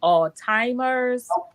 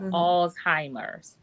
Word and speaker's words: Alzheimer's: to pronounce the word I hear people say alimer Alzheimer how do you pronounce the word Alzheimer alimer yes Alzheimer's okay pronounce it okay so